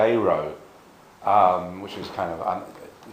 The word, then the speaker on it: Dero: pronounced I mean most people now seem to pronounce Deo as dero but he actually pronounced d dero um which is kind of so pres he